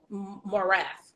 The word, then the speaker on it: Morath: The TEA commissioner is Mike Morath, if I'm pronouncing his name correctly, I Mike believe Morath.